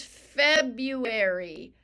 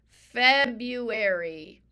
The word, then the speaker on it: February: silent letters is February February we have Valentine's Day it's cold outside we have President's Day Feb Feb then we usually say Feb you but we spell it R you there's this silent R Feb feary silent R